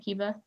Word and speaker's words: Kiva: Kiva, am I pronouncing your name right, Kiva? Hopefully I Yes. am. Yeah. Okay. You are, sorry.